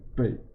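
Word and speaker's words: 貝: In Chinese pronunciation, it's not shell, it's bei.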